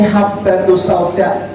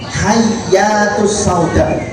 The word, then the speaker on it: habbatus sauda: tumbas niku salah ketik kudune habbatus sauda ba titik setunggal teng kitab niku ternyata ba titik kalih jadi bacanya nopo hayyatus sauda harusnya jinten hitam jinten hitam habatus sauda